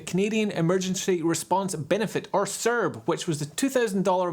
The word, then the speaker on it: CERB: Should it be pronounced CERB or CERB or just CERB? I pronounce it CERB because that's the correct way to pronounce it.